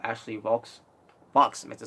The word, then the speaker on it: Vox: Ashley Vox, meant to say. I was it kind of rhymes with Fox, Actually, it is, but Ashley Vox.